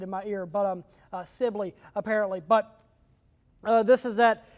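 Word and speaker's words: Sibley: an eye on, but also this area near Sely. It's a bit uglier uh that uh we're keeping an eye on. Apparently, I've been mispronouncing that. that I just got corrected in my ear, but um Sibly apparently.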